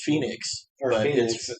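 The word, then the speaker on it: Fenix: Or Felix. Felix the cat? I'm pretty sure they call him Ray Felix. No, it's Phoenix.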